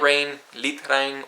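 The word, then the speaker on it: regn: if you do notice there's a g in there but the G is almost not pronounced so it sounds very similar to the English word Rain r um kind of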